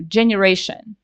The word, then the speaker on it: generation: is still G right and I don't know generation right J and the letter is G so three different ways to pronounce the same consonant letter and we do